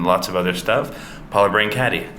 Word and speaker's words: Brancati: of other stuff Paula brain caddy did I say it right yes brain caddy yeah yeah I did